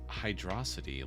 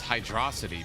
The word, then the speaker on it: Hydrocity: My instinct says it's hydrosity because it's one word, but if it's 2 words, it's Hydro City.